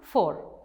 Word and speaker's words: four: For. Now we have F-O-U-R, it's also for.